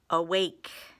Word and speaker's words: awake: need more time awake there's that a being an open syllable exception schwat the beginning of a word and then we have a vow consonant e syllable with a long a and a silent E awake good job all